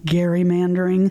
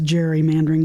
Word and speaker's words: gerrymandering: When the term was first used, it's said that it was pronounced gerrymandering, but over the course of time, it's kind of slipped into what we more commonly hear as gerrymandering with the softer G sound.